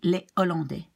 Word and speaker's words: les Hollandais: Now, there are some words, it's a list of exceptions, where of course you do not pronounce the H, but you do not link the preceding S. So here you will say les Hollandais.